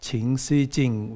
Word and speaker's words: Chan Si Jin: can see that's the chinese writing this is ching xi jing which is what i going to talk about